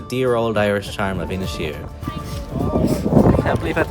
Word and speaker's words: Inisheer: In fact, it was Inisheer. That's how you say it. I've been reminded 20 times today. Inisheer.